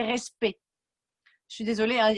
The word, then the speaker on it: respect: y avait respect, et ça s'écrit avec un C. En français, on ne dit pas le C. Donc, ce n'est pas respect, mais c'est respect.